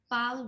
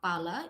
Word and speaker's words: Pala: Pal dynasty we are calling pal dynasty or pala English but this is we are pronounced pal dynasty.